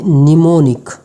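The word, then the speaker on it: mnemonic: एम जो है ये there is only one silent एमर इनी सिर्फ एक ही वर्ड ऐसा है जिसमें एम जो है वह साइलेंट है जैसे के निमोनिक निमोनिक निमोनिक यादा की मनी में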